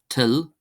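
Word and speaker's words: toil: We have till, till, till, till, till, meaning will or wish.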